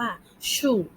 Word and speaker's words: 树: คะ ต้น ไม้ ภาษา จีน ของ เสียง ว่า ชู่ ชู่ เรา ออก เสียง สิ คะ ดี เยี่ยม